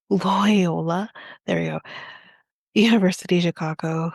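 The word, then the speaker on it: Loyola: As Ruben Keller, a professor at Loy Loy, okay, it's a it's spelled like Toyota but with an L, Lyola, there we go.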